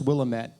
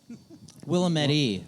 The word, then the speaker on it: Willamette: well um that's for definitely for sure it's pronounced willamette by the way willamette willamette how many breweries have there been in spokane